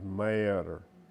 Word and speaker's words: Marietta: Marietta is Mayetter.